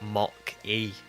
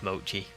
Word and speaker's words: Mochi: I looked at like Mock-E and I went, oh, it must be like lock, like that kind of lock, like Mock-E. It's not, it's Mochi.